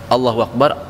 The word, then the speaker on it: Allahu Akbar: Jadi dalam gini ya Ustaz, dalam pelafalan azan ini saya sering menemui banyak yang harusnya huruf dikatakan Allahu Akbar, A-nya jadi panjang.